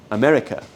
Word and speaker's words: America: No hay una A en la palabra América, es America.